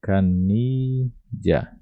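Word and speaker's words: canilla: Então a canilha você pode pronunciar dessa maneira aqui, ó, canilha. Canilha.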